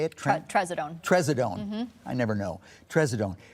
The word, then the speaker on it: Trazodone: And if you do give your pet something like Tremazone, is that how you say it? Trazodone.